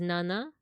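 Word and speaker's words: なな: which is 6 o00 seven is Nana like banana but it can also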